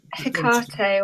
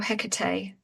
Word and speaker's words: Hecate: What was the name of the um the Hikart or Hecate? Uh people pronounce it different words different ways. Hikart.